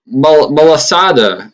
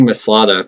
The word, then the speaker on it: Malasada: Big Malasada. I don't even know. I was calling it Big Maslada, but that's not how you say it.